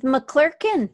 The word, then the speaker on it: McClurkan: And it kind of rhymes with McClurkan.